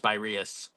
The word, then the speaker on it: Spyrius: I think I was talking to somebody and he was saying it's pronounced Spyrius.